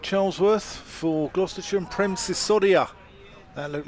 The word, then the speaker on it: Sisodia: Luke Charlesworth for Gloucestershire and Prem Sisodia. That looked like for Glamorgan. When you asked how to pronounce his name, just say it's like Susudio.